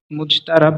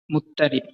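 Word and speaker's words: مضطرب: প্রচলিত উচ্চারণ অনুসারে মুজতারাব লেখা হয়েছে, অন্যথায় নিয়ম অনুযায়ী এর সঠিক উচ্চারণ হবে মুত্তারিব।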